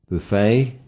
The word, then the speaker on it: buffet: However, most foreign borrowings are stressed on the last syllable. The following is a list of English and foreign nouns. Notice the difference in the placement of the stress in each. A. Foreign nouns ending with a silent ET.